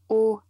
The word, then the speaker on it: aux: Donc, au, à la, AUX, qu'on prononce aussi au, et cette partie, il faut retenir.